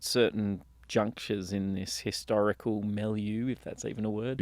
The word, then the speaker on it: milieu: junctures in this historical milieu, if that's even a word. Yes, it is. I think it's a word, Yeah. isn't it? Yeah. Usually pronounced with a French accent.